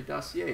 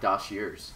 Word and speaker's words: dossier: no a in dossier but you still say dossier not dosers do dossers people would get so pissed if